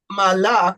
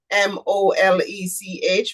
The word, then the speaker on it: Molech: You would see their malak, which is the actual pronunciation, but most persons may know M-O-L-E-C-H, molech.